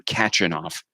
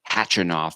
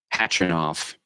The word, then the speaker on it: Khachanov: I was calling him catching off but apparently you don't pronounce the K it's just hatch enough or maybe catch enough